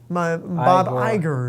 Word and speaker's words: Iger: bob igor bob igor igor has stepped down bob iger igor dude it's come on remember that's not how you pronounce this i just call him have you